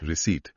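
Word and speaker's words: receipt: रिसीट। आर ई सी ई आई पी टी। इसमें पी आता है लेकिन बोला नहीं जाता। Silent P.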